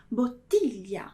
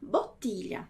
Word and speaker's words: bottiglia: É a palavra bottiglia. Bottiglia.